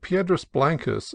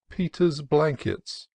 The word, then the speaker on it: Piedras Blancas: at San Simeon, where I heard Piedras Blancas seriously referred to as Peter's Blankets, and Arroyo Cruz, the name of a neighboring canon, as Arroyo Cruz.